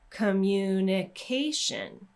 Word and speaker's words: communication: that one again communicate communication so again with the ate ending we're going two syllables before and then with the tion ending we're going to stress the syllable right before that Tio n if you want extra